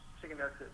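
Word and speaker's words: shigellosis: Shiganosis is how you say it.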